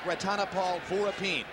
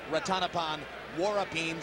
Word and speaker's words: Rantapol Sor Vorapin: country and incidentally yes it looks like Ratana Paul for a team but we were told by those who speak Thai and amazingly enough we don't that it should be pronounced rotten upon war up him so that's what we're